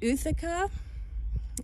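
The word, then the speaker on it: ootheca: in my landscaping so these are actually called Ithaca I believe that's the correct pronunciation and they look like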